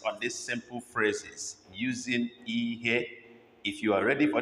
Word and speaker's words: ihe: And today we're using IHE as a base word for making our phrases. So let's begin to look at them. 7 of them in number. The first is IHE.